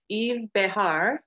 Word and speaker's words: Yves Behar: of video watching to find out how to pronounce his name this is Yves Behar did I get that right good job I'm